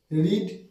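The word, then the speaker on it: read: রিড past টেন্সের উচ্চারণ হবে রেড আর পাস্ট পার্টিসিপলের উচ্চারণ হবে রেড।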